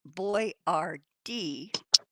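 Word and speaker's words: Boyardee: Mud, the pronunciation of Boyardd, the brand name for Chef Boyardd, is Boy Rard D.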